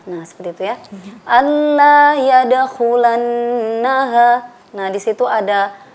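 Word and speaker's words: الله: Cara membacanya adalah Allah. Nah, seperti itu ya. Tidak boleh kita mendengungkan Allah. Tidak boleh seperti itu. Dan tidak juga seperti ini. Anla. Nah, itu salah ya. Yang betul adalah Allah.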